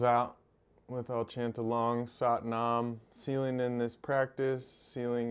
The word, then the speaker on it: Sat Nam: If you want to join me, long syllable Sat, short Nam. Sat Nam means truth is me.